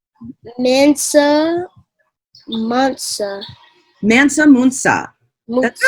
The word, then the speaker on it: Mansa Musa: And how do you pronounce this this leader's name? Mansa Musa. Mansa Musa.